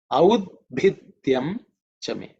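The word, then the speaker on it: औद्भिद्यं च मे: In terms of pronunciation, pay attention to the bha. Audbhi. That bha is fourth letter in the pa varga, so it has to be aspirated with mahaprana, with extra air.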